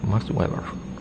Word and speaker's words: Max Weber: Y bueno, la otra de las que es de la jaula de hierro, eh, es una frase de Max Web o sí, así se pronuncia, Max Weber.